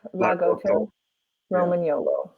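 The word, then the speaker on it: Lagotto Romagnolo: Yep, Lagoto, Roman YOLO.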